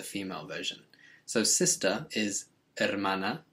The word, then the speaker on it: hermana: version so sister is hermana remembering that the h is always silent in spanish and that means the